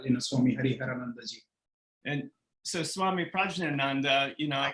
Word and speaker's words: Prajnananda: And so Swami Prajnananda, I called him Swami P because I always had a hard time pronouncing his name. Pragyananda, yeah, that's right.